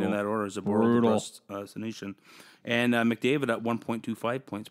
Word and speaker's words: Senyshyn: Senyshyn?